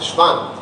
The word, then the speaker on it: Schwann: Pero es Schwann, porque es alemán, me parece, o algo así.